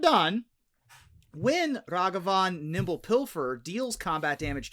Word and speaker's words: Ragavan: And Ruben, tell us about Ragavan Nimble Pilfer. So, more pronunciation guide for you.